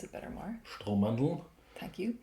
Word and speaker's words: Strohmandeln: Strohmandeln. Thank you. You can also, the Meidlinger L, the L in a certain district in Vienna gives it the extra Strohmandeln.